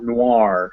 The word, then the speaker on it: noir: boy or coin um there's one exception to this and that is in french words which will have an o-i-r in them and then it's wa so this gives us word